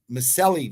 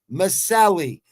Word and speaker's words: Miceli: quilly verse Danielle Miceli Miceli that's how you say it because that's Italian people trying to explain to me see that vowel at the end That's Italian Masali I told you all